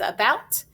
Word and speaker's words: about: a says and again the key word is about and it says ah in an open syllable at the beginning of a two-syllable word okay so let's practice that